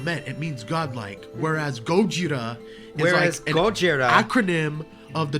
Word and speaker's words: Gojira: both called Godzilla and gojuda because it's Japanese mispronounce it and then everyone in Japan's called it God Gojira and we're calling it Godzilla and it's I